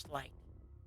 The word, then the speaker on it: sleight: You know, there's something that I've been wondering, and that's why something that is spelled slate of hand is pronounced slight.